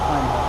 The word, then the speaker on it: Coimbra: No, it's a hard C. It's a Coimbra. It's not like other Latin-based languages.